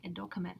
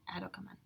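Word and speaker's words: ἐδώκαμεν: Now, why do you say edokamen and not adokamen? Because there are four syllables, right? And the accent cannot go further than the third syllable.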